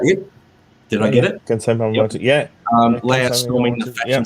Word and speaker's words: Kansai Yamamoto: So Kansai Yamamoto layouts. Good work. Was that it? Did I get it? Kansai Yamamoto, yeah.